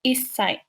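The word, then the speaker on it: 一歳: And then counting age, you put sai at the end, but also make sure that you see the small two when you pronounce, like isai, and 10 would be jusai.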